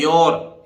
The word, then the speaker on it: your: भाई कैसे ओ यू देखिए यो आउ याओ बोलना चाहिए ना नहीं बोलता है योर योर माने तुम्हारा ठीक